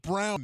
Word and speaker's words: Braun: Other than pronouncing his own name, he's the best because it's pronounced Brown now. Yep. It's Brown. With Michael. Even though it's spelled Braun, we all know it's Brown.